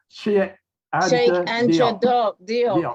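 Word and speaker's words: Cheikh Anta Diop: Sheikh Anta Diop.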